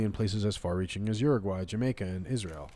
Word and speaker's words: Uruguay: No, he says Uruguay, like Jamiroquai or something.